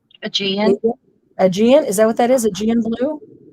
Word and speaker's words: Aegean: Aegean. Aegean.